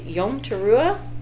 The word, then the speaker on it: Yom Teruah: Okay, Yom Teruah.